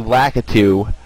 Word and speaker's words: Lakitu: I'm gonna get my revenge on the Lakito right now. Yeah, there you go. This isn't a paper route, son. This is real. I'm actually pronouncing his name. It's actually Lakitu.